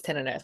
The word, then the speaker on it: tinnitus: Technically it's tinnitus, but whatever.